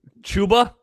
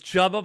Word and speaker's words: Chuba: Everyone always thinks it's chubba, but it's chuba. Chubba. It's very confusing with the per. It really is because it's spelled like it should be chuba.